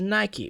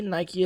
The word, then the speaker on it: Nike: the profanity mentioned previously Nike is two syllables unless you pronounce it like the British do for some reason the original ancient Greek seems to be pronounced Nik and it makes sense that neither Nike or Nike would be correct because those vowels really make those sounds outside of English which